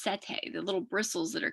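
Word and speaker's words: setae: it said polycetae um because those bristles are are pronounced sete the little bristles that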